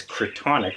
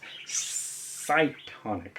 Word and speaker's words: Cytonic: I've definitely shown the first one, which at first I thought was Cretonic, but obviously not. It's Cytonic.